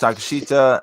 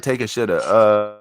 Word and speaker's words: Takeshita: Takeshita. I always say like take a shitta.